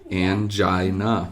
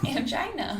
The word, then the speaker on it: angina: did my research and that is how it's pronounced as well i'm looking it up here angina yeah angina oh my goodness that's